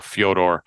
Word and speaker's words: Fedor: Uh Fedor, I I even throw Fedor and Melanie in there or Fodor as they pronounce it.